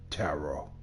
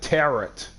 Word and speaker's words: tarot: a special Tarot deck tarot I always pronounce it terot cuz it has a t at the end of it it's pronounced tarot interesting